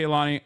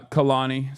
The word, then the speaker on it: Kehlani: Anyway, but yeah, shouts out to Kaani. Uh Khalani, sorry that's how you say her name. I apologize. I was saying it wrong.